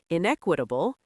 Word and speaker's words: inequitable: Pronunciation tip: Inequitable. Inquitable. Stress on the second syllable. Four syllables total.